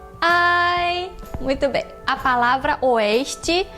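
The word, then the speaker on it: 哀: Então, a palavra tristeza em chinês se escreve assim e se fala ai.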